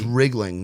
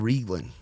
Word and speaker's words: Riegling: g l i n so it's wriggling not wling it's wriggling wriggling I've been saying it wrong it's all good man it's R like a truck and then Ling like anything like anything like ring like ring a ling you know um it's like reing like the wine but with a G L yes you're that's what